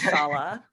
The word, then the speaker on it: Shola: My name, so it's spelled Shola, but it's pronounced Shala, and it's a Nigerian name.